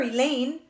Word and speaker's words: Elaine: know better I'd swear he Lane rhymes with pain just pulled on a